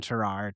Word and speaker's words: Tarrare: It's spelled T A R R A R E. So naturally, you kind of want to say Terrare, but it's Terrar.